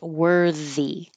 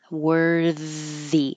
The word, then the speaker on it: worthy: looks very similar but it's a voiced th so I made it bold worthy worthy keep the air flowing when you finish your R wory don't stop worthy worthy that's a lot